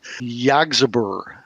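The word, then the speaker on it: Yggsburgh: And they're going to bring back Castle Zagi, and I always butcher the pronunciation of the book itself, which is Yggdrasburg, Yggdrasburgh.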